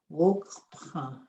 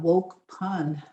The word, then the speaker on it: wokpa: Wokpa, wokpa. So you have a hard K. The N is nasal, so it's not wokpan, it's wokpa.